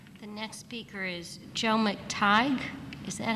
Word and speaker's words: McTighe: They'd want to pronounce every single syllable, every single letter. So it was McTighe and McTighe, and forget about it.